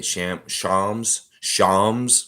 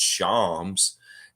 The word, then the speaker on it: Shams: Shams. I always want to say Shams because it's like that's how I pronounce it, but it's Shams.